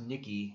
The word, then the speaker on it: Nike: there you go Oh Nike is pronounced Nikki she's German perfect English okay oh